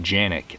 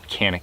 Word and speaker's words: Canik: these and how uh in Turkey they pronounce it janic while canic here in the US is the proper pronunciation and the how the